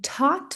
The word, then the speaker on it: taught: Também não temos na escrita o th. That's why. É por isso. Então aqui três soms apenas e o primeiro é igual ao último. T o t.